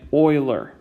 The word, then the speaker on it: Euler: is pronounced like it like it might be pronounced euler that's how it's spelled but it is actually pronounced like i'm doing it euler like that's how you want to pronounce euler's